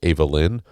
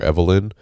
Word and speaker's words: Ava Lynn: Um if it's, you know, I I maybe I'm big on that because my daughter's Ava Lynn and they uh most people call her Evelyn because they're stupid.